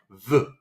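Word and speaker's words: ב: Okay, this means that we need to pronounce the bet like ba, okay, like the word be. Without the dagesh, you can see over here, the bet sounds like v, like v, like the letter V in English, okay?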